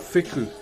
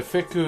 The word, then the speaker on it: wheku: So wheku is spelled W-H-E-K-U, but our W-H is pronounced as an F, if that makes sense, but is it a bit hotter there today?